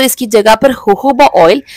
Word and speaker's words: होहोबा: अगर आपका स्कैल्प बहुत ऑयली होता है तो आप चाहें तो इसकी जगह पर होहोबा ऑयल, जिसकी स्पेलिंग JOJOBA है लेकिन इसे कहते होहोबा ऑयल है, वो भी इस्तेमाल